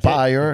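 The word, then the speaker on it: Pyer: Il avait engagé Pierre Desrochers, Pyre Desrochers, on le niaisait parce que son nom s'écrit P-Y-E-R, Ok. Pyre.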